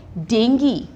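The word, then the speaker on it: dengue: कि आपने अब से इस वर्ड को डेंगू नहीं बोलना डेंगी बोलना है कोई भी वर्ड आप जब जी यूई के साथ देखोगे आपके दिमाग में आएगा कि जी यूई में यूई क्या है साइलेंट नेक्स्ट वर्ड अब डेंगी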